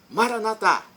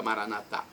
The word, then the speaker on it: Maranata: de Jesus eu clamo Maranata vinde Senhor Jesus pronúncia católica Maranata ou Maranata com a tônica na penúltima sílaba pronúncia dos nossos irmãos separados os evangélicos ou protestantes não importa a pronúncia